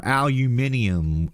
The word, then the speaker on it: aluminium: needs aluminum it's nonstop aluminum or aluminium as the Europeans like to call it and they swear up and down and they'll fight you till the day is long that that's the way it's that's the way it's pronounced but it's not so